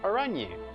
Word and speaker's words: Araignée: Araignée is pronounced Araignée.